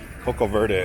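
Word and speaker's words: coco verde: hat that I'm wearing Coco Coco not Coco Verta is how they say it down here it was a about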